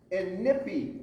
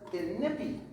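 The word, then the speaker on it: Inikpi: She is Princess Inipi. Let me hear you say it. Princess Inipi. Now, it's spelled really funny. It's spelled I-N-I-K-P-I. And a lot of people want to say Inipi, but it's Inipi.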